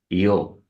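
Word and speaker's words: Ἰώ: Her name was Io, as we pronounce that in Greek, Io.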